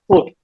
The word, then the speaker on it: foot: அது வந்து நீங்க ப்ரொனவுன்ஸ் பண்ணி பாத்தீங்கன்னா ஃபுட் அப்படின்னு வரும். சரிங்களா? ஃபுட் அப்படின்றதுதான் நம்ம கரெக்டான ப்ரொனவுன்சியேஷன்.